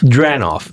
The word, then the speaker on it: Dranoff: So tell me about Dranoff to, am I saying it correctly? Dranoff.